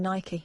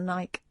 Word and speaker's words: Nike: all of a sudden everyone saying Nike not Nike um I do you know